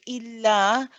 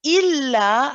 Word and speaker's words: إلا: Okay, so here, make sure you say il, hold the tawassut, then the la.